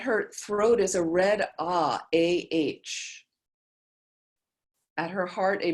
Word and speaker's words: Ah: At her throat is a red Ah, A-H.